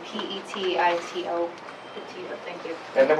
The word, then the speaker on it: Petito: Can you pronounce her last name for us? Sure, it's Petito, P-E-T-I-T-O.